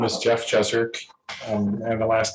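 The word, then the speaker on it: Jezerc: i know your name my name is jeff jeserk and the last name is spelled j-e-z in zebra erc and i live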